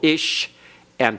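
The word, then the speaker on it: אשה: So the ish, sha, the sheen has to be pronounced twice. To close the first syllable, ish, and to begin the next one, isha.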